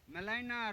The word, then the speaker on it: Gmelina: It is Melina arborea. Melina में G is silent. GMELINA. Melina arborea.